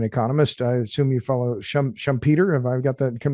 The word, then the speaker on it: Schumpeter: I assume you follow Schumpeter. Have I got that pronunciation right?